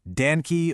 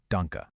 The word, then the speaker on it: Danke: at dke and say danke or donke. But remember, a German e at the very end of a word makes a soft uh sound.